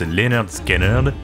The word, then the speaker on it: Lynyrd Skynyrd: l'enregistrement durera 5 semaines non sans quelques tension pronounced Leonard scenard sort en août 1973 et c'est un succès